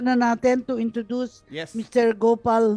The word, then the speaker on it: Gopal: But generally in the Philippines, people call me Gopal, and it's like Go Philippine Airlines.